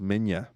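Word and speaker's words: Minilla: date all right a lot of fans detest manila son of godzilla and the guy says actually it's pronounced menya but i always liked him shut up um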